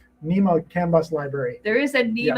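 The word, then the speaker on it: NMEA: It's not NEMEA. NEMA CAN bus library.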